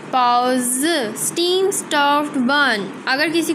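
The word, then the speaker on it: baozi: पाओ ज, बी की साउंड पी की साउंड होती है।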